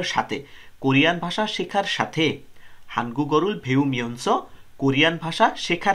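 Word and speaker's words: 한국: মিয়ানসো মানে হলো সাথে কোরিয়ান ভাষা শেখার সাথে হানগুল ভেউ মিয়ানসো কোরিয়ান ভাষা শেখার সাথে হানগু চিকচাং মুনহা এটার উচ্চারণ কিন্তু হানগুই হয় না উচ্চারণটা হবে হানগু কোরিয়ার চিকচাং মুনহুয়া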